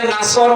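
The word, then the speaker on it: نصر: পড়েছে এখানে সোয়াদ আছে নাসর মানে সাহায্য আর নুন সিন র নাসর মানে এ গল্প কি আপনি যদি মুখটা গোল করে শুদ্ধ করে উচ্চারণ না করেন অর্থ আকাশ পাতাল পাল্টে যাবে আল্লাহ পাক বলেন হে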